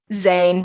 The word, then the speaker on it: Zane: like, Zane rhymes with sane, which is something he's not.